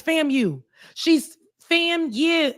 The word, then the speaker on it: FAMU: She keeps saying fam. She She separates when we say fam you. It's fam you.